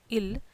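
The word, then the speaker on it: ils: Il, the subject pronoun third person plural, becomes elle. Please note the S is not pronounced neither in il plural or elle plural.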